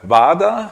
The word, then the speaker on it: vada: And um I think the Indian name of the object is a vada. Is that correct? Vada. How how do you spell it?